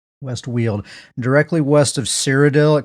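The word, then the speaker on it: West Weald: a new Zone called the West weld or no West wield it's the it looks like well but on the stream they pronounced it wheel w l d whe yeah West wheel directly west of cidel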